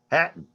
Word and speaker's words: Hatton: How do I pronounce that? Hatton. Hatton, my Yeah.